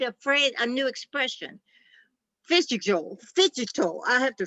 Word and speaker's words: phygital: And they have coined a phrase, a new expression, phygital, I have to say it right, phygital, which is the physical sphere and the digital sphere as a result of that combination being so important.